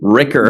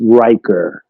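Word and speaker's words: Riker: rer can I ask you a quick question Ricker they would say yeah hey Commander Ricker they would say uh cut cut cut it's it's pronounced rker right yeah oh rker okay got it rker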